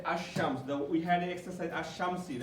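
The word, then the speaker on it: الشمس: Like we can say ash-shams, we don't say al-shams, okay, but when it comes to qamar, we say al-qamar, okay.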